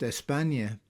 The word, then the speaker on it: España: Compare this with the name Spain, which is the English form of the name which in Spanish is pronounced España.